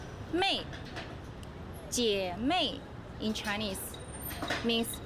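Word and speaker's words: 妹: The second one on the right hand side give you the sound as well, pronounce mei.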